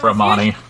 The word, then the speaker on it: Romani: Repeat after me, Ginny. Row. Row. Ravioli. Row my boat. Ma. Ravioli, Like that's ma. Knee. Like the knights that say knee.